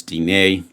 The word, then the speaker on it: dîner: Diner, but in French it's dîner, to have dinner.